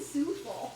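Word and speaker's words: soufflé: Why do you keep saying souffle? That's the correct pronunciation.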